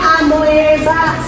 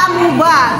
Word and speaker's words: amoeba: Cara membacanya, anak-anak, cara membacanya bukan amoeba, Paramaceum, Euglena, bukan begitu. Pertama itu adalah amuba, keduanya Paramaceum, yang ketiga Euglena.